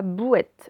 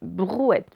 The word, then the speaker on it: brouette: Ce n'est pas bouette, brouette, BR.